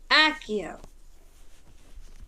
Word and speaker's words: Accio: Accio. Pronunciation is good.